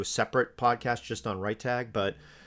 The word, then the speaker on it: RiteTag: So I use a tool called RightTag, and it's spelled RITETAG.